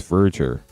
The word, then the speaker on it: Verger: It's like merger but with a V. So, it's Verger, which is crazy to me, but apparently that's how it's said.